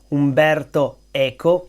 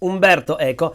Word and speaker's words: Umberto Eco: Umberto Echo and so here is how to pronounce his name Umberto eeko Umberto Eko and the most famous book by Umberto EO